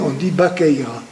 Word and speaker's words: Baqueira: Normalement, Baqueira c'est Vaqueira, mais on prononce le V, se prononce en B, on dit Baqueira. Voilà. Mais on devrait écrire notre station de Vaqueira, mais on prononce Baqueira.